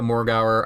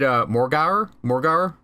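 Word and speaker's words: Morgawr: and it was actually something they said Morgauer, like the W is not actually pronounced in the name.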